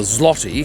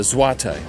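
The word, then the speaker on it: złoty: They use what I thought was the zloty, because that's how it's spelled, but it's actually the zloty.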